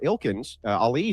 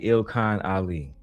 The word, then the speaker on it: Ilkan Ali: Ilkins, Ali says, well, wait a second. Andrew doesn't have to demonstrate. Ilkins? Ali? Now you understand that they don't understand how to pronounce basic vernacular. It's clearly Ilkan Ali.